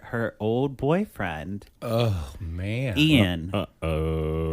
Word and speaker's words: Ean: Ian, Oh. spelled with E-A-N, Who's also the best man. not I-A-N, E-A-N.